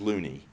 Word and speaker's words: Looney: its name his name it's got two o's in it uh so it could be pronounced Looney although my understanding is that he pronounced it Loney uh and unfortunately when